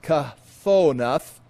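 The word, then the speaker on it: כְּתֹנֶת: And there it's pronounced kathonath, and it means coat, long robe, or tunic.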